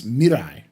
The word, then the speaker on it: Mirai: It's Mirai, right? Like a Mirai, hard yeah, R. Mirai.